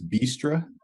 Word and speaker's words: Bistra: episode every saturday just so i have the pronunciation correct your name is bistro all right great all right so what i'm